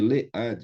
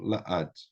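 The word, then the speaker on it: לעד: Ad, ela é tônica. Porque ela é tônica, então, em vez de le-ad, eu tenho la-ad.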